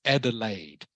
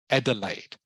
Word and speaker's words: Adelaide: the way everyone this this uh city is pronounced Adelaide Adelaide Adelaide is it it's actually a German word